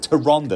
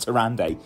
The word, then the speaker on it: Tyrande: these are the Tyrande that's right ladies gentlemen to Ronda that's how you pronounce it not to Rand a skier that's like mega nerd moment anyway it's